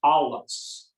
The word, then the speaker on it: Allis: It's pronounced Allis. Allis. So it's kind of like Ollis. Allis. Allis. Okay. The German. Thank you. Das ist alles. It means all in German.